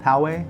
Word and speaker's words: Poway: east in a little city that we call Poway. I've heard Poway, so it is Poway.